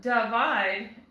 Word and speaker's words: divide: But divide doesn't sound quite right. That I is going to continue making it short sound. I, like igloo. Divide.